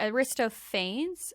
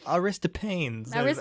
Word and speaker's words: Aristophanes: from the greek story in plato's symposium where aristophanes wrist pains do you know how's that how do you spell it aristotle and then pains yeah aristo pains aristophanes says that all humans were androgynous in the